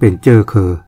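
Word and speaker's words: เชื้อเครือ: นี่ เขียน ห ย คำ ว่า เชื้อ เครือ ก็ หมาย ถึง เชื้อ ชาติ เมื่อ ก่อน นี้ ก็ ออก เสียง เป็น เจ้อ เคอ เช่น คำ เดิม ที่ ออก เสียง เป็น เมือง สมัย นี้ ก็ เขียน เมือง ไป หมด สระเอือ ก็ จะ ออก เสียง เป็น เออ คำ ว่า ขึ้น สูง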